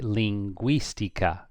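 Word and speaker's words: lingüística: What do you do with the U with the two dots? You pronounce the U. So here it'd be linguistica.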